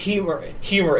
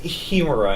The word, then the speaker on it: Hemera: It's not pronounced Hemera. It's pronounced Hemera as in hedge. Hemera? I've heard it was pronounced Hemera, and I, in fact, have had a couple people tell me that the H is silent, so it's Hemera.